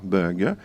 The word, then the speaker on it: bug: liste en bleu pâ donc ici la consonne finale se prononce en français mais dans le mot d'origine anglais il ne se prononce pas bug et en fr on pe